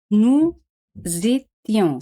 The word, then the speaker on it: nous étions: Éramos, se dice, nous étions. Se hace la liaison entre S et E, pero S se pronuncia Z, Z, porque se encuentra en dos vocales, U y E.